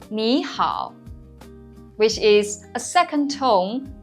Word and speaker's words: 你好: When one third tone comes before another third tone, the first tone is pronounced as a rising tone, which is the second tone. For example, 你好, which means hello.